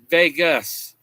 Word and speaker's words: vagus: When you watch them on their videos online, they like to pronounce it like Las Vegas. It's vagus nerve.